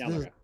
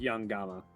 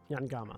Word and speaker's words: Yangama: This is Yanmaga. Yanmaga. I said it right. I just had a weird inflection on it. It sounds like you're saying Yamaka. Yanmaga. It's Yangama. Yangama. That's it. It's a G.